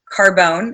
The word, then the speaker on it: Carbone: Carbone and it's literally car and bone put together and um so at